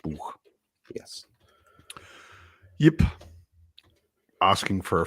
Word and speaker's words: Buch: That's how it's spelt, and it's pronounced Buch.